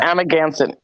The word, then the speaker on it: Amagansett: Again, I forgot how to pronounce it. You're talking about Amagansett. Amagansett, yeah.